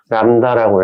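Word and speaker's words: λ: 있는데이 친구는요 그 기호로는 이렇게 쓰고 읽을 때는 람다라고 읽어요 얘는 파동이 1회 진동할 때마다 이동한 거리라는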